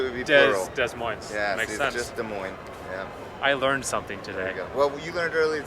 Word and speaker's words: Des Moines: i-80 values you know is that how you pronounce it des moines des moines no it's not as moist as i was saying des moines there's only